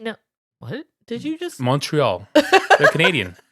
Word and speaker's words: Montreal: Montreal. They're Canadian. That's how you say it in French Canadian.